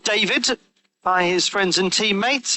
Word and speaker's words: Давид: Often called David by his friends and teammates. He's naturally had a slight anglicising of his first name as he lives in the United Kingdom, but David, the traditional Bulgarian pronunciation.